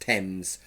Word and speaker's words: Thames: Simply put, the river's name has always been pronounced Thames. Has always been pronounced Thames with a simple T sound.